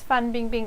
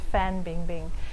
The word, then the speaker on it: Fan Bingbing: the leading Chinese actress so her name's fun being Bing and I've heard it being pronounced to fan bingbing she's been in the